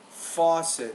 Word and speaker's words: faucet: pretty good you have the word faucet stress on the first syllable two the V and